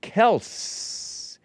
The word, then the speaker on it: Kelce: But Kelce's father, Perg Big Bump, was too weak to correct people on the pronunciation of their last name. It's actually pronounced Kelce, K-E-L-S-S, and not Kel hyphen C-S-E-E.